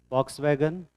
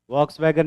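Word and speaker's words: Volkswagen: जैसे तुम लोगों ने फॉक्स वैगन गाड़ी नाम सुना है? फॉक्स वैगन, वॉक्स वैगन नहीं होता है, वो फॉक्स वैगन होता है।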